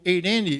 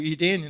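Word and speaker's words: εἰρήνη: E tinha o eirene dos gregos, ou Irene na pronúncia moderna, né, deu o nome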